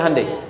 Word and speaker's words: Hyundai: bikin Honda sini hundai Hyundai kan dibacanya hundai ya kan sana Honda